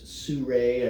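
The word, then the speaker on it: Sirui: This Surui, I believe is how they pronounce it, S-I-R-U-I, and this is their, I believe it's the AT125.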